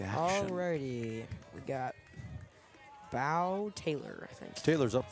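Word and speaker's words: Beau: I believe it's Bow Taylor. How do you spell it? Is it bow? B B E A U. That'd be B normally would be how that pronounced.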